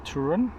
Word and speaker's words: Toruń: So after visiting the vets which we'll talk about in a moment uh we are now at camping in Trun.